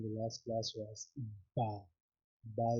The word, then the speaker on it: ب: Ba is pronounced by joining both the lips, upper lips and lower lips, and by having some stress, by pressing, by having stress on both the lips.